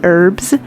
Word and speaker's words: herbs: herbs now i know some parts of the united states say herbs with an h and some say it just with the e herbs and well my husband's from england and they say it with the h and it drives him